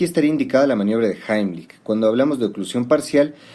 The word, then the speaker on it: Heimlich: Que estén muy bien, vamos a ver en este video la maniobra de Heimlich, que por cierto, esa es la pronunciación correcta porque está en alemán, la mayoría dice Heimlich, pero bueno, se entiende de qué se trata.